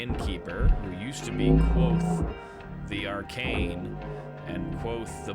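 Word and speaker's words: Kote: chronicler my name is quoth pronounced nearly the same as quote quoth names are important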